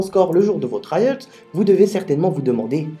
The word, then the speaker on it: IELTS: de la note heinz prononcer ayotte et non pas y est s y est une erreur de prononciation pour en état des